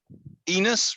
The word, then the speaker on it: Enos: it for me third enos rhymes with venus don't forget that fourth